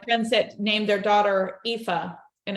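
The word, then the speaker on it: Aoife: so we have friends that named their daughter epha and it's AO IA and it's pronounced epha okay yeah see it's it's this wonderfully mysterious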